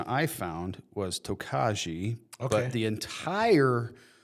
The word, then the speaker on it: Tokaji: of research and the pronunciation I found was tokaji but the entire wine and bourbon and whiskey world tells me that that word is pronounced tokai.